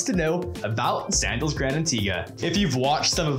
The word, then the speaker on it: Antigua: sandals grand antigua oh and yes it is pronounced antigua hi i'm madison from reliant destinations and my